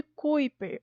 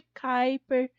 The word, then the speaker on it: Kuiper: fala que tá no cinturão de kuyt per ou de Kuiper dependendo da pronúncia que você usa é tão em uma